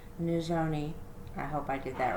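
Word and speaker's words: Nizhoni: before meet nizoni begay her first name is pronounced new zoni i hope i did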